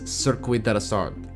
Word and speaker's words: Circuit de la Sarthe: The event takes place at the Circuit de la Sarthe, and the correct pronunciation for this track is Circuit de la Sarthe.